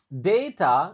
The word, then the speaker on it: data: Oke, perhatikan tentu saja juga eh konsep yang dipakai data. Nah, ini jadi A yang pertama dibaca E, A yang kedua dibaca A.